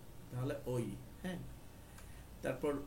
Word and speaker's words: ও: তো আও এর জন্য অবশ্যই আপনার থেকে জি প্রেস করতে হবে, তারপর শিফট ধরে এক্স, আও, ও, এটার উচ্চারণ হবে ও, আও হবে না।